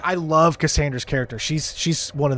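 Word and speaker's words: Kassandra: I It's not Catherine. What is it? It's Cassandra. Cassandra. I said it before anybody told me. I remembered. Like I love Cassandra's character.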